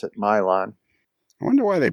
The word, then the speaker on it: Milan: Milan, which is spelled Milan, but they pronounce it Milan.